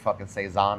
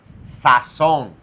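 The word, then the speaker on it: sazón: First of all, don't ever say Seaison again cuz I will How do you say it? It's Saon.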